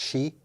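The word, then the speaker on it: sidhe: he e if I remember correctly but it's pronounced she um but the shei had two courts the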